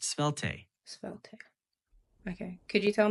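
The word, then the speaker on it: Svelte: t sure the word you're asking about is pronounced spel spel okay could you tell me about it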